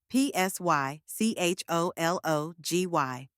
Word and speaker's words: psychology: look at the spelling PS y c h o l o g y notice that silent P at the beginning don't let it confuse you it's just there for